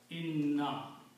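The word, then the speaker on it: إنّا: But when we combine these, one noon is not pronounced. It is not written. So this is written as inna. Okay. Two noons are left. Third noon is not written, not pronounced.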